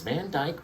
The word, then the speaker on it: Van Dyke: Van Dyke brown.